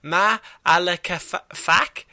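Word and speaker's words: Ma'alefa'ak: ability to communicate telepathically, and he was named Ma'alaka-Fak, I think it is. That's how you pronounce it, and whose name means darkness in the heart.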